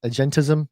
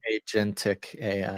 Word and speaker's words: agentic: So AI shopping AI agency uh what was the word I I I pronounced it wrong when I was talking to you before. What is it? Agentis Agentism. Agentism. Agentic AI. Agentic AI. Yeah.